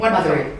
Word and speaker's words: Mathuri: Mathuri? The best way to say it is Mathuri. So Mathuri. like mother with an E at the end. Mathuri.